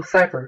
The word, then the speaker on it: Cipher: My name is Cipher. It also rhymes with cyber.